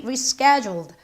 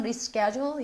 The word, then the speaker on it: reschedule: She rescheduled. 자, 발음이요. 미국식 발음은 reschedule, 영국식 발음 reschedule.